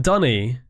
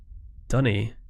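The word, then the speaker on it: D'ni: It's pronounced Dunny. Dunny.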